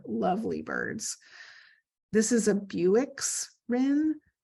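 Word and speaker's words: Bewick: Birds this is a Buicks Rim it's spelled not like Buick um and then the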